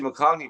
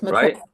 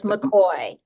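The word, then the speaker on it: McCaulley: Let's talk about Betsy McCaulney running for governor. Makney, her name. It's McCoy. McCoy. It's McCoy. Why come says Mockney everywhere?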